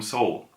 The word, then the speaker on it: Seoul: Seoul so so the the Korean pronunciation is actually saw wood saw wool but when you say quickly it comes more like the western pronunciation of Seoul a little bit when you speak quickly so so little it's